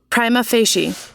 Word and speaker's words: prima facie: I think the real pronunciation on Google... Prima facie.